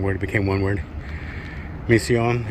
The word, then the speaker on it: misión: Misión, as you can see, is in Spanish with one S, and that accent, misión, instead of misión or misión, it's misión.